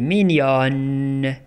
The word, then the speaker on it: mignonne: للمؤنث نقول elle est mignonne elle est mignonne كنطقوا هذيك ان او في الاخر كنطقوا هذيك ان في الاخر كنقولوا mignonne mignonne.